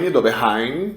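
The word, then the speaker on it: Döbereiner: Esse Dobereine, alguns pronunciam Doberheim, eu chamo de Dobereine mesmo, eu estou no Brasil em português e pronto, acabou.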